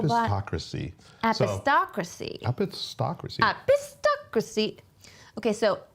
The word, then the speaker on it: epistocracy: they will let us know about how to pronounce apocracy epistocracy epistocracy epistocracy okay so epistocracy is a real word and it is pronounced